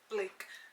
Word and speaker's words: Blake: And yeah, Blake, not black, okay, I said it right.